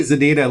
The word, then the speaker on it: ZEDEDA: And I think it's actually ZEDEDA, like rhyming with my Run DMC My ZEDEDA song. my Adidas.